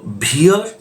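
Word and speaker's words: veer: We double E आर ये जो word है इंग्लिश में इसे हम भी या भी प्रोनाउंस करते ये जो भीड़ है इसका मतलब क्या होता है?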